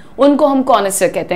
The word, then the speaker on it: connoisseur: तो उससे हम ये वर्ड से बुलाते हैं, प्रोनाउंसिएशन ध्यान से देखो, कॉनिसर, कॉनिसर, ही इज अ कॉनिसर of music, यानी कि